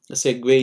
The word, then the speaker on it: segue: Some might call it as Segway, Segue, you know. Doesn't matter, you know, just the connection, right?